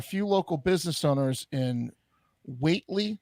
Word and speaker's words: Whately: local business owners in weightly I don't know if that's how you pronounce it Watley w-h-a-t-e-l-y weightly Massachusetts that deserve credit I'm